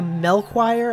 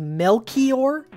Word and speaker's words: Melchior: go back to i i was calling a mel choir apparently it's pronounced melchior which is uh one of the three wise